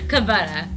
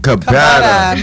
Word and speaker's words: Kabeda: Man, you saying it wrong every time. Did I say it right? Kabata. Kabeda.